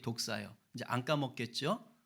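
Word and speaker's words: δόξα: 여러분 공부합니다 영광이 뭡니까 이게 헬라어로는 독사 그래요 뱀이 아니고 헬라 발음이 독사 이제 안까 먹겠죠 예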